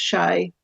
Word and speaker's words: Shay: It's pronounced Shay. Shay. Okay. It's from, I think it was originally O'Shea, from Irish. Yeah, and then they tended to drop the O's, so it's Shay.